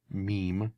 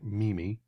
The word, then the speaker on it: meme: meme that's going around and yes it is pronounced meme not memi this meme with these um this Shiva enu